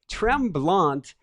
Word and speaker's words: Tremblant: Tremblant is how you say it in English, like tremble, but with an A-N-T at the end of it.